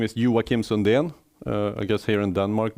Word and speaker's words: Joakim Sunden: much in the way but my name is yuwa Kim Sundin I guess here in Denmark most people know how to pronounce that which is not the case in